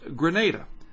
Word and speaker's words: Grenada: the windward islands including Grenada Grenada with a long a someone sent me a was it a comment I think it was on YouTube that is pronounced Grenada so I will trust